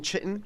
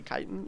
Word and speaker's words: chitin: I was saying chitin like an idiot, and she was like, no, it's actually chitin.